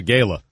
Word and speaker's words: gala: It's a gala. Yeah. We pronounce it with a hard A.